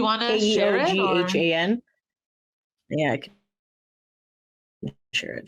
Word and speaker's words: Keoghan: I can't pronounce his name. Do you want to share it? Or? Keoghan.